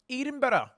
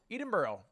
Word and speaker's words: Edinburgh: Edenboro. I don't think that's how you say it. Edinburg. Edinburgh. Edinburgh. Anyway, I'm here today, guys.